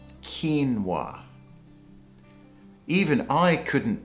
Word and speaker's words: quinoa: They say something like quinoa, but the proper pronunciation is quinoa. Quinoa.